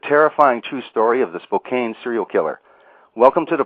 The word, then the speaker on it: Spokane: much for correcting that it looks like it's Spokane but it's actually pronounced Spokane a lovely town in eastern Washington and you